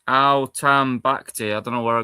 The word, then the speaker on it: Al-Tambakti: So is that how you say it? Al-Taribi? No, it's not. It's Al-Tambakti.